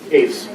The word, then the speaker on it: Hoefs: Pronounce that right? Hoefs, thank you.